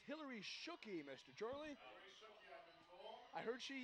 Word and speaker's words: Shockey: I think it's pronounced Shooky, Matt.